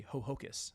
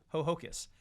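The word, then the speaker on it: Ho-Ho-Kus: A Hocus. I pronounced it wrong there. A. Ho hocus.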